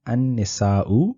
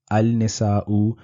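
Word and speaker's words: النساء: Please note that I am pronouncing this ar-rijalu and an-nisa'u. I'm not pronouncing it al-rijalu or al-nisa'u because ra and noon are not part of the moon letters or the qamari haruf that we studied previously. So in these instances, we will not be pronouncing the lam on al.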